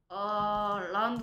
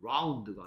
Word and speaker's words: loud: Clocky makes Loud noise. Loud. Loud. 네가 발음하는 건 얘처럼 들려. 네. 둥근 같이 들려. Round가 아니고 loud. Loud.